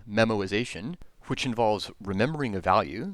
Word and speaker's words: memoization: it's a technical term it's memorization without the r this method as it